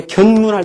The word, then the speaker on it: 견문: 근데 견문할 때는 이제 볼견자는 길게 발음되는 것이죠.